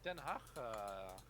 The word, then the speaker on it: Ten Hag: Oh, Ten Hag, that's how you pronounce it, Yeah.